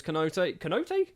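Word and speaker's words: Konaté: His surname's Konate. Konate, that's how it's said.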